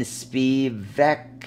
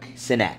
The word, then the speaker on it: Sinek: Simon Spivak, is that his last name? Am I saying it wrong? Sinek.